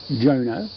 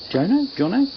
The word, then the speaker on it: Jono: Now, I did get a message on the Internet of all things from a fellow whose name I think is pronounced Jono, J-O-N-O, Jono? Anyway, sorry if I pronounced it wrong, mate.